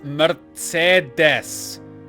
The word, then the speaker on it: Mercedes: Mercedes this is delicious it's Mercedes each e is pronounced differently I know right mind-blowing